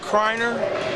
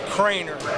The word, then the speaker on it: Criner: name I was calling kreiner I asked her dad he said yeah well the way it's spelled it is Criner but you pronounce it Crainer so I wrote it